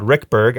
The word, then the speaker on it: Ruekberg: We have Ruekberg. I learned in the last podcast that's how you pronounce his last name.